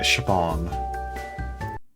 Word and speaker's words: Siobhan: This is going to be one that Americans will never be able to pronounce. Siobhan.